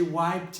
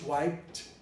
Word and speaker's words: wiped: a clean napkin she wiped it why did why did you syllabicated you didn't finish wiped wiped white tipped he used the final t to create another syllable so that's syllabication wiped it